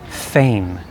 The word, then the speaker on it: feign: you with the pronunciation fame fame like fan only long a fame please say it with me feign it means to pretend